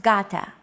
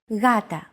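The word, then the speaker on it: γάτα: word Gata meaning cat this is usually romanized with an initial G letter but it is not pronounced Gata the first consonant is softer ugata watching contemporary videos such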